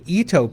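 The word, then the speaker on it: Itoh: If you have a little shadier spot, I have found that the Eto pianies, that's spelled I T O H, um, that's a series of new peies that are out there.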